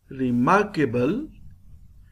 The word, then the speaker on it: remarkable: remarkable when we pronounce remarkable re is pronounced with lower sound mark is pronounced with higher sound we call it it